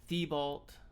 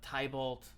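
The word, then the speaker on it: Tybalt: um tibolt um table i've heard this pronounced uh several different ways um thiebault i've heard it i it could maybe even pronounce the tie bolt i don't know but usually i call him uh tibbled so go ahead and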